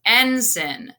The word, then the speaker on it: ensign: so iago is an ensign okay it's pronounced ensin so that's the third